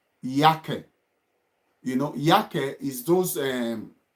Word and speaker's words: Jacke: You know, you put it Jacke, yake, yake, yake, D yake.